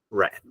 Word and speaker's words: read: The verb read in present simple, in past simple, and past participle are written the same, but the pronunciation is different. It's like color rojo in English, red, red.